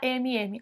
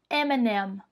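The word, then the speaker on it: M&M's: alguns outros lugares também mas em inglês a gente não fala emm a gente fala m&m m&m m&m tá vendo M and m m&m é assim que a gente fala em inglês e aí você gosta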